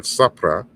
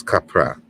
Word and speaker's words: capra: So it's not sapra, a sabra, it's capra, right?